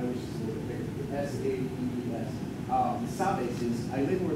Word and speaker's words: sabes: And this gives us good visual evidence that the last S was not pronounced when this artist was doing this.